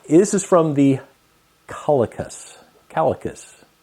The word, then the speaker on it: Calacas: is from the holocus calicus not calculus I was told it's not pronounced that the calicus restaurant downtown